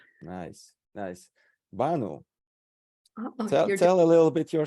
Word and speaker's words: Banu: way I'm from Turkey the Turkish way will be born we stress the first syllable nice yeah that Bano tell a little bit